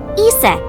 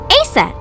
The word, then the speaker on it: Isis: Horus's mom is named Isis, but in ancient Egyptian, it's pronounced closer to Isa or Aset.